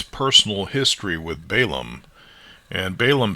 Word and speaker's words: Balaam: Because I'm not sure how old Balaam is at this time, or Balaam, I believe it's pronounced in Hebrew.